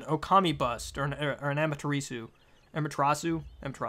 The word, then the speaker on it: Amaterasu: Amaterasu, that's how you say it, Amaterasu.